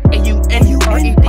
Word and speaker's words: Aunred: A-U-N-R-E-D is Aunred. That's how you say my name, coming to the lead.